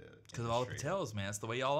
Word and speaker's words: Patel: And Patel basically started out a derivative of landowner. So, you know, and it rhymes with hotel.